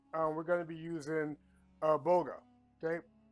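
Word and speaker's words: bulgur: Okay, I know it's pronounced it's pronounced boga, but it's actually spelled Bulger, right? But when you're looking into Middle Eastern dialects, you can throw the English format just right out the window.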